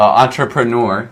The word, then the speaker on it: entrepreneur: with that one uh entrepreneur um entrepreneur that nor at the end is tough because it's two vowels newer it's kind of like newer just a little um closer together newer entrepreneur um how would you